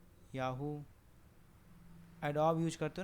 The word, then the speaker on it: Adobe: दिया मैंने, BE एडोब, ठीक है, एडोब रीडर, एडोब फोटोशॉप जो आप यूज़ करते हो, एडोबी, एक्चुअली इसका प्रोनाउंसिएशन क्या होता है, एडोबी, ठीक।